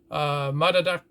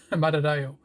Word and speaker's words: Madadayo: My God, I can't even pronounce it. But you have to judge for yourself. Madadayo. There we go. Madadayo.